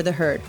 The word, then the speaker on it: The HEARD: easily find it by searching for the herd that's spelled t-h-e-h-e-a-r-d all one word in the app store